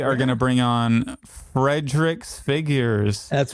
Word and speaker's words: FredriXFigures: And pronouncing it sounds like it's the possessive form of Fredrick. Yeah, exactly. Which is how, what is that figure? It's FredriXFigures.